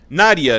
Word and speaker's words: Nadja: film is nadja 1994 nadia 1994 nadia or nadja yeah because they call her nadia throughout the movie i don't have it's just so it's a european pronunciation listen to this this